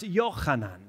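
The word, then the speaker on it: יוחנן: common name in english in hebrew it's not pronounced john it's pronounced yochanan and that word is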